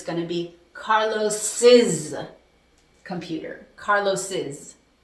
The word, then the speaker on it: Carlos's: But remember, the pronunciation is going to change. It's going to be Carlos's computer.